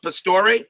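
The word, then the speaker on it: Pastore: CP cards and dice says milna Pastor that's how it's pronounced Pastor okay thank you Larry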